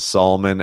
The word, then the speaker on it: Salmon: My family pronounce it Salmon, and I think it's so that we feel classy.